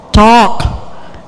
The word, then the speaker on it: talk: Yang berikutnya talk. Ininya cough. Tidak ada bunyi L.